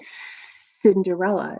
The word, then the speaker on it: Cinderella: the scene here ready Cinderella is that a hard see like okay or is it like the S it's like the S so Cinderella has a soft C so look and see